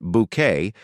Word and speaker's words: Bucket: routage as hin hin bucket nay Walton who insists her surname is pronounced bouquet is the central character